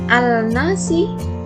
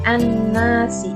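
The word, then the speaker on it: الناس: Dan contoh yang terakhir, bukan al-nasi tapi an-nasi.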